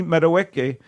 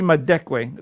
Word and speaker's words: Madekwe: dad, and newcomer Archie Madueke Madekwe. I'm so sorry. I was going to give you credit for pronouncing it correctly. No, but, Archie Madekwe. There's a missing consonant.